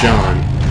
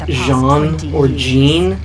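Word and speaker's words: Jeanne: those names that sound looks like it should be pronounced Jean or gene i would think Jean ya know they all just straight-up pronounce it John I do seem to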